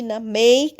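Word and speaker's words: name: মেকে কিন্তু উচ্চারণ হচ্ছে না আমরা মেকই বলছি না মেক বলছি এবং এর উচ্চারণটা সেটা লম্বা উচ্চারণ হচ্ছে I will make cake today.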